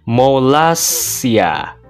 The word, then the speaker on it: Molossia: Kayak yang Mimin jelasin tadi, tuh cara bacanya Malaysia.